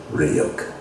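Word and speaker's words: Ryuk: those of the death notes demon react it's pronounced ryok ah okay okay you well we have as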